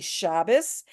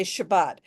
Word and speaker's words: Shabbat: This is why you have heard some people say Shabbos and some people say Shabbat.